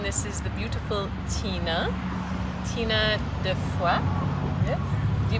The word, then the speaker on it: Defoy: And this is the beautiful Tina Defoy. Yes. Because that's how you say it, right? Defoy. In English, we would say Defoy, and Defoy is beautiful also because it means of faith.